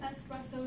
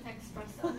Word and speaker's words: espresso: Well, it's an espresso, not an expresso.